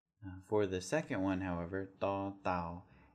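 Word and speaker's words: ต เต่า: For the second one, however, da tao, you're going to move your tongue down a little bit and put it right back into the back of your two front teeth. And when you make that sound, it'll be a bit harder. Da, da, da, like that. Okay, so that's da, da.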